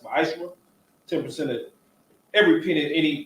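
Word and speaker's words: מעשר: Tithes, which commandment comes out of Numbers 18:21, Malachi 3:8-10, means 10th in the Hebrew, pronounced ma'ashra.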